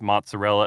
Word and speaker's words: mozzarella: people who say that you have to pronounce mozzarella as mozzarell yes capicola is gabagool I mean it's gabagool and we are yeah